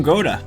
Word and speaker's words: Gouda: They're from Goda. Yes, they are. The game said so. Or Howda as we pronounce it.